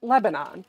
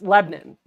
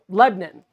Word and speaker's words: Lebanon: the country that's spelled that way and we pronounce it Lebanon but down there you do not pronounce it Lebanon you will get very funny looks it's Lebon yep Lebon that's how you pronounce it Lebon and like